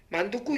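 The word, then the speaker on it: 만둣국: 않아 단금 세 번째 만두국 있입니다 만두국이 하는 것은 다음에 보게 되면은 1단계 2단계 3단계를 통과했는데 3-1단계 뒷말이 만두국 하면서 만두국 하면서 된소리로 나타납니다 그래서 만두국 이렇게 발음이 나거든요 만두 만두국 이렇게니다 그러니까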